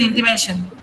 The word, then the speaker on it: intimation: Which is the syllable before TION? Mission, ma'am. M, ma'am. M, right? M, not M. M. There's a syllable. M. So intimation. Revolution.